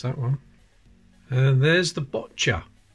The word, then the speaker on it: boccia: And there's the boccia. That's definitely how it's pronounced, not boccia, like some people say.